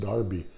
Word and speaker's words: Derby: joseph wright of darby i know it looks like derby but it's pronounced darby he loved to paint